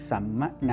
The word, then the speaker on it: สัมมนา: หรือ ออก เสียง อีก อัน หนึ่ง ก็ คือ สัมมนา นะ ครับ มี นร อง สะ อา อยู่